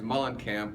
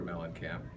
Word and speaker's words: Muehlenkamp: yes is cuz my last name is Mullen camp but those Wisconsin people did did not pronounce it correctly plus back then there was a singer called John Cougar melon camp and so they called me melon Camp they thought that was